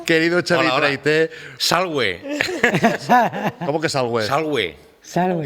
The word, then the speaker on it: salve: ahí, sí, y las V siempre son us. Entonces, claro, no se dice salve, se dice salve.